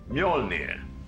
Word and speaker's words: Mjölnir: you I have to return them Joel it's pronounced Mjolnir you're near your ear you won't take up any more of your time mr.